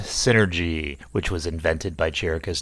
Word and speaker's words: 51N3RGY: They have brought along a small robot called 51N3RGY, pronounced synergy, which was invented by Jericho's deceased father, M.